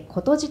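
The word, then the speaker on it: 琴柱: た白いものはお琴の柱と書いてことじと言いますあの兼六園に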